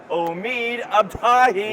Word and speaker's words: Omid Abtahi: Pen Persing Omid Abahi. Yeah, you nailed the pronunciation. Yeah. Oh, thank you so much. Yeah, of course. It was fun. Hi, I'm Omid Abahi.